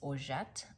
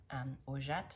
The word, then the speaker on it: Orgeat: Penelope in the colorway, I think I've been saying Orgeat, but maybe it's Orgeat. I think that might be how you pronounce it, or at least closer to how you pronounce it. Maybe the G is sort of a soft J, Orgeat, something like that.